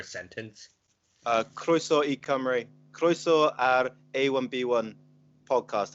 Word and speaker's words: Cymru: to think about on how do you pronounce shimmery cymru see why my you see ym are you are coming yeah camera is that how you pronounce it that's wales yeah yeah